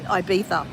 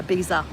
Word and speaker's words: Ibiza: But it went it brought up that he comes to IA or Ibiza or Ia depends on where you're from, how you say it.